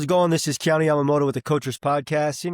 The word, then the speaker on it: Ioane: and all that, and there's some multiple ways to pronounce it, but my family's pronounced it Ioane for a long time. Also can be pronounced from a Polynesian standpoint, Ioane. So multiple ways in which that name has been pronounced. A lot of people put an L in front of it because they don't believe there's that many vowels to start a name.